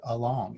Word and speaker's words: along: It's not a short A or a long A in this word along. It's not along, it's along.